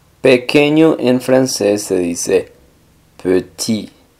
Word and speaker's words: petit: en francés se dice petit pe la e no es tan abierta como una e en español p sino un poco más cerrada p y la t del final no suena Por lo general las